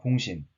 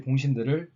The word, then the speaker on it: 봉신: 즉 봉신 한 명이 공경에 처하게 되면 나머지 봉신들을 데리고 가서 도와주는 거죠. 다음, 봉신의 의무입니다. 자꾸 선생님이 봉신 하니까 뭔가 모자라 보이죠? 왠지 이런 봉신 이렇게 해야 될 것 같고 발음에 주의하세요.